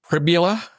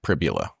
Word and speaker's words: Pribula: Um so Bo Pribula, that's what we're going to go with tonight. Pribula rhymes with fibula.